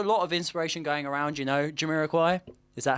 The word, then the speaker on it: Jamiroquai: But yeah, there's a lot of inspiration going around, Jamiroquai.